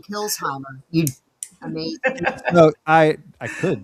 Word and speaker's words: Kilsheimer: If you pretend the S is a Z, you say it correctly. Kilsheimer. Kilsheimer? Yeah, Kilsheimer. Kilsheimer. Okay. Yeah. Separate it between the S and the H, and you'll say it.